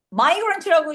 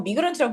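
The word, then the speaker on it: migrant: 예를 들어서 마이그런트라고 읽는 선생님도 계시고 미그런트라고 있는 선생님도 계시거든.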